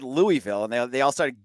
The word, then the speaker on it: Louisville: edit my voice here I talked to some Louisville fans it's Louisville I I keep it's not